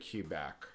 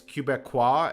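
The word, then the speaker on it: Québec: That said, I can at least um I've always said QAC um cuz it's Cubecqua as the Denisin. Um so I think that's closer to the actual French pronunciation, but no doubt someone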